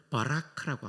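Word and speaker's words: ברך: 송축은 찬양한다는 동사인데 히브리 말로는 바라크라고 합니다. 한번 따라해 볼까요? 바라크. 바라크.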